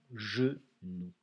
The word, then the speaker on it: genou: La particularité du mot genou, c'est qu'il y a un G. Et le G devant le E fait le son J. Et on a le OU de loup.